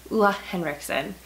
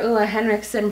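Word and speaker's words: Ole Henriksen: that I finally like borderline learned how to pronounce. Ulla Henriksen.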